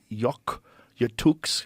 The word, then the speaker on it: Yakutsk: He first discovered this ancient bacteria, Bacillus F, in 2009, frozen deep in the permafrost in a mountain in Siberia's Yakutsk.